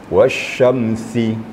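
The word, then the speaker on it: والشمس: pertama ee wasyamsi ini berdekatan syin dan sin berdekatan. Jadi membacanya harus ee harus nampak bedanya ya. Wasyamsih gitu ya. Jangan mirip-mirip ya. Tadi agak mirip sedikit.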